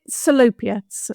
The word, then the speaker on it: Salopia: Well, I'm not looking forward to any Welsh pronunciations, I must admit. Oh, don't worry, neither am I. It's fine. Is it Salopia? Is Yes, that Salopia, right?